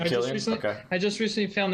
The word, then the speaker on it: Cillian: His name, how do you actually pronounce it? Killian. Is it Killian?